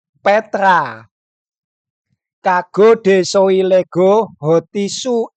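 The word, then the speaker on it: πέτρα: dengan Petrus yang kedua yang pertama itu maskulin bacanya petros Yang kedua feminim bacanya Petra kago Lego hotisu e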